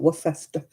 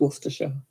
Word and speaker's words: Worcester: worcester sauce over here it is worcester sauce by the way not what festa it's just worcestershire worcester sauce i'd rather